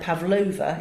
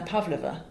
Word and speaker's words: Pavlova: penultimate syllable that stressed so it's not Anna Pavlova is Anna Pavlova the ballerina it's Natalia Makarova not Natalia Makarova but so so in